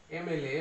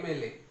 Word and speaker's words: MLA: Sound প্রথমে চলে আসছে, একটা ভাওয়েলের মতো একটা উচ্চারণ প্রথমে হচ্ছে MLA, MLA, MLA।